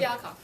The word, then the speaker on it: Fialkov: Pronounce it? Where? Fialkov? There you go. Kazoo. Fialkov.